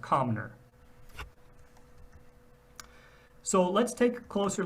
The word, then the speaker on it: Comnor: There is one instance of the glyph, and that is in the word the name Comnor, that's pronounced Comner.